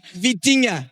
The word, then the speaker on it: Vitinha: It's Vitinha.